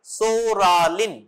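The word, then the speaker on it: Psoralen: ফর পিটিলিগো number one সোরালিন সোরা পিটা উচ্চারণ হবে না সোরালিন মিথক্সালিন নেক্সট ট্রাইজালিন লেখো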